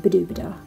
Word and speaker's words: Badobedah: when I named her madam the dubidouxs rhymes with oh la la a good name for